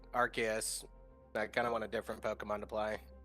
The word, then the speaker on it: Arceus: Arceus. Some people say Arceus, some people say Arceus. I think the correct way is actually Arceus, Arceus.